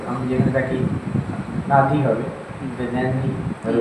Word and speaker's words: Nadi: যেমন NADI আমি যেখানে থাকি নাদি হবে, নেননি ওর উচ্চারণ প্রনাউন্সিয়েশন।